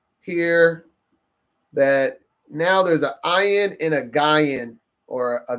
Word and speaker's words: Ayin: It is ayin. That's what it's often pronounced, ayin, as in eye, right?